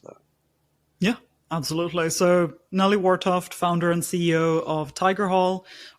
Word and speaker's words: Wartoft: Wartoft, yeah, correct. Okay. Wartoft. Just gotta get the T at the end of that.